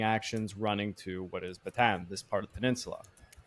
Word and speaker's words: Bataan: We're jumping into the meat and potatoes of what is the battle for Batan, which is actually apparently it's supposed to be pronounced Batan, but I've my whole life it's been batan, so I have to pronounce it like that.